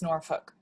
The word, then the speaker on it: Norfolk: There's no L in the sounding it out. Yeah, so it is Norfolk, Norfolk. but it's not Norfolk. So it's like a Norfolk. It's like Norfolk. Yeah. Yes, Will come stress is on the first.